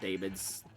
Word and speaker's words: daemons: Okay, I know they pronounce it demons. I know it's technically pronounced demons.